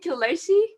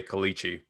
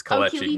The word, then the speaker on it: Kelechi: Is your name Kelechi? Yeah, that's actually very, very well said. It's closer to the way most people would say it. Most people say Kelechi, but it's Kelechi. You said it right.